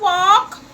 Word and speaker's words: walk: the word whoa whoa so in the world walk you do not hear the hell we have